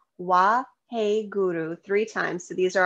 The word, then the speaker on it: Guru: mudra is W hey Guru it's gu Ru with little roll in R wah hey Guru three times so these